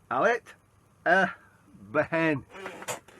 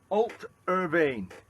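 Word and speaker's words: Allt-á-Bhainne: Alet Behen, and I'm pronouncing that totally wrong, because if I go to the website, it's pronounced Alt Irvine. Well, nothing like my pronunciation.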